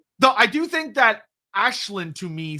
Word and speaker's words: Aislinn: So, for me personally, when I'm on a stream with Andy, it's really easy for me to just match whatever pronunciation he's doing. Um, that just it just it's just easier when I'm playing Total War. I likely will just say Iceland because it's going to match what the game is saying.